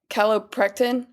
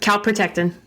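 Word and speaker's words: calprotectin: Some uh inflam inflammatory biomarkers is the caloprectin. Is that how you say it? Calopre. Yep. Calp protectin calp protrotectin and lacto fermanin.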